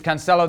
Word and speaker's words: Cancelo: Stewart, is Cancelo the best right back in the league right now?